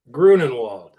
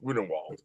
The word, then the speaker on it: Grunenwald: Grunenwald. Grunenwald. Okay, there's the other spell. Of course, the other pronunciation. Yes, Grunenwald.